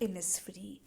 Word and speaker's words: Innisfree: title the title is the lake oil ऑफ इनिस्फ्री इन the word oil oil word में आपका जो एस है that is a silent word तो जब भी हम प्रोनाउंस करते